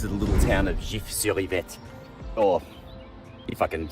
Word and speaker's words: Gif-sur-Yvette: Well, this is the little town of Gif-sur-Yvette, or if I can say it properly with my Australian accent, Gif-sur-Yvette.